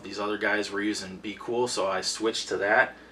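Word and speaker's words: BQool: i use is uh be cool it's spelled b q o o l dot com it's a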